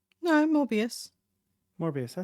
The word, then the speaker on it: Morbius: Or Mobius? no, Morbius.